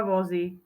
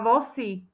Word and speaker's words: vozy: píše z dva vozy sa píše a vyslovuje sa dva vozy lebo ty už vieš že to nie sú žiadne dva Vosy No tak Vosy viezol